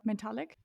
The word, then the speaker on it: Mentalyc: because she's a Founder her setup is called metallic do I pronounce that correctly yes perfect nice can you